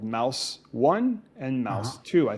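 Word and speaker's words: Maus: off the shelves two holocaust graphic novels called mouse one and mouse two i think that's how you pronounce it it's m-a-u-s these are graphic novels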